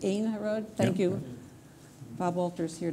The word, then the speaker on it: Ein Harod: Ein Harod. Thank you. Bob Walter's here to help out in the pronunciation.